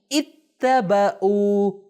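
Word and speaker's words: اتَّبَعُوا: اتبعوا. تلفظ صحیح کیجئے. دیکھیں ای پہلے کیا ہے یہاں پہ؟ کسرہ. ای ت ب او. دیکھیں ای ت ب او. اتبعوا. اتبعوا یعنی انہوں نے پیروی کی.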